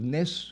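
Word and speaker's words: נס: Nun Samach in Hebrew, pronounces Nes, which means a miracle.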